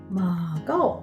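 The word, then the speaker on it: 馬告: 馬が告げると書いてマカオと言います。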